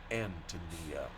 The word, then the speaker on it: Antonia: Bohemian name anonia is strongly accented on the first syllable like the English name Anthony and the I is of course given the sound of long e the name is pronounced Antonia book one the shamas